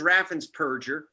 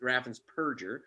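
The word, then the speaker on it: Raffensperger: family show um but scumbag whose name is raffen's purger not burgers people mispronounced it really is raffins perger removed 198 000 people from the voter rolls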